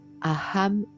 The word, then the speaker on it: Aham: vous allez vous répéter mentalement mantra qui est Aham brahasmi Aham je suis a H a M